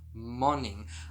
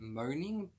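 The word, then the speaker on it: Moning: was this book, which I'm going to now pronounce this author's name correctly, Karen Marie Monning. I believe that in my midweek review I was calling her Karen Marie Moaning.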